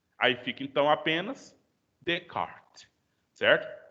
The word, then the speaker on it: Descartes: Mas você não vai pronunciar nem o S do des e nem o S do tes. Aí fica, então, apenas Descartes, certo? Descartes.